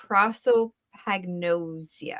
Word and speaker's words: prosopagnosia: say it again it's gonna be wrong again prosopagnosia prosopagnosia yep yes okay so they they've never